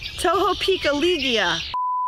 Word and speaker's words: Tohopekaliga: Tohopekaliga. Tohopekaliga.